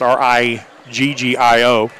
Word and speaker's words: Riggio: 11 brooklyn riggio and i hope that's how her name is pronounced r-i-g-g-i-o i think that would be riggio a minute 56 left